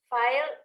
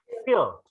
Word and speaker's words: field: Ini bacanya gimana? File. Salah. Field. Field. Ya, field ya. Maksudnya kan bidang kan? Ya, bukan file ya, tapi field ya.